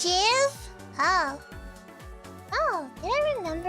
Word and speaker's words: GIF: Oh, Jif. The creator says it's pronounced GIF. GIF. Then why spell it as a G if it's meant to pronounce as a J?